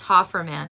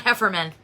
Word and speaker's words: Hofferman: Pronounced Hofferman, but spelled the way it is. Okay, Hofferman. Okay, I like that. Not Hefferman. Hofferman.